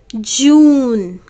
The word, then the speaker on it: June: vowel you okay june june we are not getting the sound of e this is giving its